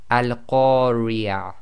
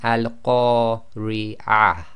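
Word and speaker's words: القارعة: Now the way you've got to pronounce this is because that TaaMarBooTah is at the end of the sentence, we will pronounce that as if it's a ha and it's sakin.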